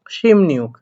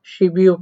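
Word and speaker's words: 십육: নিউক, তাহলে কি হবে সিম নিউক। তাহলে আশা করি বিষয়টা আপনারা বুঝে গেছেন। তো খেয়াল করে দেখেন, তাহলে এই জায়গায় উচ্চারণটা শিবিউক না হয়ে হবে হচ্ছে সিমনিউক।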